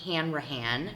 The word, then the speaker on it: Hanrahan: Today we're talking with Mike Hanrahan. Did I say it right? You got it. Yes. I have it phonetically spelled out on a piece of paper,